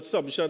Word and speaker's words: Sumption: I I can say this by way of explanation in every privy council case I've looked at I've always heard it pronounced as sumption but people have different preferences.